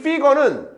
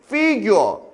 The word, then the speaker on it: figure: her figure fig에는 의미가 상당히 많이 있지만 여기서의 fig는 모습이이란 모습 형태 원래이 피거는 피규어 일본애들은이 발음을 피거라 발음을 피규어라고 해요.